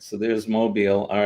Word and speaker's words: Mobile: Mobile. All right, so there's Mobile.